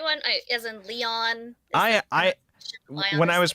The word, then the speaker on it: Lion: sure including lion who whose name is actually like Leon Leon yeah is it's like French Leon Leon but like they write it like Lion but it's supposed to be pronounced like Leon and I'm just think